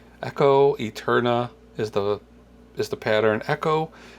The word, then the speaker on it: EKCO: Echo is spelled EKCO, so it's like, it feels like it's reversed.